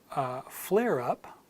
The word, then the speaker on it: flare up: for example and phrase flare up you can say flare as flare and then together as flare up flare up so the British would insert the are in there the Americans already have the are